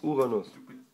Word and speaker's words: Uranus: Uranus? Uranus. Betonung liegt auf Anus, ja.